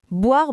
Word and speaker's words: boire: Attention, boire. Beaucoup d'apprenants vont dire boire en séparant bien les sons. Mais non, on lit boire c'est un son picoule.